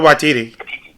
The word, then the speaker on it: Waititi: Talking about a substitute, I would have obviously put in, never pronounced his name right, Jojo Rabbit, I'm sorry. Taika Waititi. Yeah, Waititi, that's it.